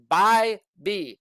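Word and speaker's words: Bibee: Last night, guys, I got Tanner Bybee for the Guardians. That's how you say his name, okay? Say it with me. Bybee. So like a buzz. So bye-bye, and then B, okay?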